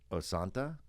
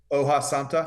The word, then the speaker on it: hoja santa: Okay, so think we had the farm raised yellowtail wrapped in osanta. Is that am I saying it correctly? Hoja Santa.